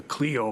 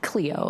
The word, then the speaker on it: Clio: Uh Cleo is I think the how they pronounce it.